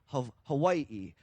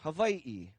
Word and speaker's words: Hawaiʻi: Everything was Hawaii. Wai as in freshwater. Wai as in plentiful or rich. But there are some lineages that do say and pronounce a W with a V sound. Hawaii or Vai.